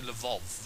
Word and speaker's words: Lwów: It's definitely Lwów. Lwów? Yeah, I'm sure because they pronounce the W's as V.